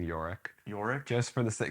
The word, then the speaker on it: Yorick: That's just How do you say it? Yorick. Yorick? Yorick Brown. All right, we'll go with that.